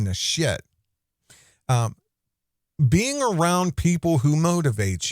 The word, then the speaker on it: Nasheed: I thought it was Nasheed, but it's actually Nasheed.